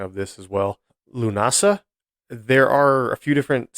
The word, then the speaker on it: Lughnasadh: But they have it written out the way you would pronounce it. I'm believing the way it would be pronounced is Lunasa.